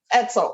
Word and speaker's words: Edsel: Edsel, if your name rhymes with pretzel, don't go.